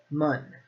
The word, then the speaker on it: 们: And it is pronounced mun, mun, in that fifth tone.